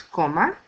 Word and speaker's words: coma: Usted command for comer is coma. Coma ends in a vowel, so the stress is in the next to the last syllable, co.